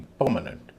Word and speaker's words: permanent: परमानेंट परमानेंट नहीं परमानेंट। क्योंकि ये एडजेक्टिव है। स्ट्रेस पहले हिस्से पर है। दूसरे और तीसरे हिस्से हल्के बोले जाएंगे।